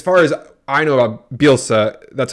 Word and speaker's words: Bielsa: you know as far as I know about bielsa that's how you say his name Craig isabilsa